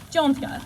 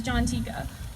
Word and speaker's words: Jonthika: Today is actually the first time that I'm introducing myself using the correct pronunciation of my name, Jonthika. Many of you likely know me as Jontika, which is actually the